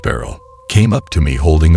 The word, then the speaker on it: Baryll: On my way out, a friend of mine who was a janitor, Michael Beryl, pronounced Beryl, came up to me holding a familiar book.